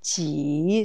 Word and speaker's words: 几: Ensuite, huitième mot, ji ou ji, alors deux prononciations, ji, c'est troisième ton ici, c'est un pronom de chiffre ou bien un pronom interrogatif.